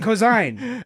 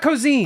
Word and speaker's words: Ko'Zeine: off which we can describe simply uh as coine cosine as not cozine I already corrected I already I did